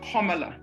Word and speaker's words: Kamala: It is actually pronounced Kamala, as in comma, the punctuation mark, followed by la.